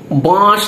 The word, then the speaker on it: বাঁশ: ও আচ্ছা, বাঁশ নিয়ে নিয়েছি মানে চন্দ্রবিন্দুটা উচ্চারণ না করলে ওরা খুব চিৎকার চেঁচামেচি করে।